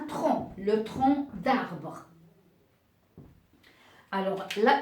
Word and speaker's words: tronc: se prononce et parfois parfois on a la lettre C à la fin d'un mot mais qui ne se prononce pas on la prononce pas exemple un bon alors regardez il y a c'est à la fin mais qui n'est pas prononcé ou bien un tronc le tronc d'arbre alors